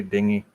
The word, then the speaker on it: dinghy: he just wanted to say dinghy because it rhymes with thingy the stars actually actually